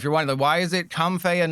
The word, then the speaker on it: Comfey: And if you're wondering, it is pronounced Comfey.